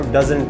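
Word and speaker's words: doesn't: डज नॉट को डजंट pronounce करते हैं, डजंट।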